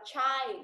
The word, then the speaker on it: child: Number one, my brother collects stamps when he was a child. Now, my brother collected. Okay, thêm ed phải là collected nhá. Và cái này là child, không phải là chi nhá.